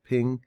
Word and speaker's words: PNG: ping that i got from a png i pronounce it ping i got it from